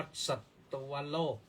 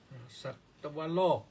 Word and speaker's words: สัตวโลก: การัน ต้อง อ่าน ว่า สัตตวโลก สัตตวโลก นะ ว แหวน ตาม มา บังคับ ต เต่า ให้ ออก เสียง ได้ หน่อย หนึ่ง ที่ เป็น ตัว สะกด แล้ว ก็ เป็น ตวะ ตวะ สัตตวโลก อัน นี้ ก็ พระ